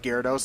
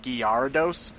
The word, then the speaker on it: Gyarados: anime and you found out that Gyarados is pronounced Gyarados instead of garados or something like Rayquaza gyos it reads like